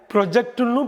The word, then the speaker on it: project: ஆக PROJECT அப்படிங்கிற வார்த்தை ரெண்டு விதமாக உச்சரிக்கப்படலாம். ப்ரொஜெக்ட் முன்னிலைப்படுத்துதல், ப்ராஜெக்ட் திட்டம். அடுத்து நம்ம பார்க்க போகிற ஒரு அருமையான இன்ட்ரெஸ்டிங்கான ஹோமோகிராஃப் வந்து CONTEST.